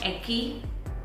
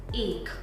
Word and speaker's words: ache: Yes, it's not eki, okay, or ak whatsoever. It is ache. Ache, like how we pronounce number 1 in Hindi.